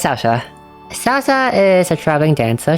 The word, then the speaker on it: Saoirse: When I first pronounced his name, I thought it was like Saoirse or something, but it's Saoirse.